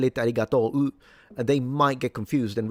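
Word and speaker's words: ありがとう: They write arigato u. They do write it like that. But they don't pronounce it. It's arigato.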